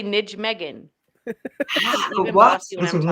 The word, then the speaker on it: Nijmegen: That's Nijmegen, not yeah. how you would pronounce it in America Yes. if you Yes. sound it out.